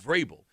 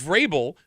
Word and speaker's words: Vrabel: Those help Mike Vrabel.